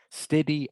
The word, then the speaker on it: steady: and by the way this doesn't rhyme with the word ready right sorry it does rhyme with the word ready steady and ready okay so the a